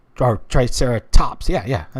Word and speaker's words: Triceratops: Hey, hey, Triceratop. Or Triceratops.